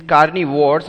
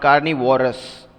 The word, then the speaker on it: carnivores: of carnivores animal yeah this is carnivores and not carnivorous yes the spelling is different carnivores okay now repeat after